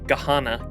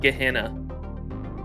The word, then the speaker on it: Gehenna: Why do Why are we pronouncing it like that? This is ridiculous. Ordeal call to the inescapable Gahana. Gehenna.